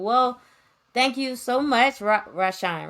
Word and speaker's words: RaShawn: Well, thank you so much, RaShawn. Right? I Yeah. said it Right correctly. I on. pronounced it RaShawn.